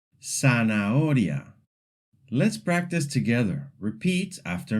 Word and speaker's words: zanahoria: In Latin American Spanish, Z is very simple. It's pronounced just like S. This means that any word with a Z sounds exactly the same as if it had an S.